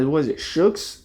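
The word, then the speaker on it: Shokz: I forgot how to pronounce it. What is it? Shooks.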